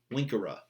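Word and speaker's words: vincere: like moneiri, terreiri, salveiri, it's a short E. So scribera, ducera, agera, winkera. It's literally a short E in that you're just like not emphasizing it in the way that you would with a second conjugation.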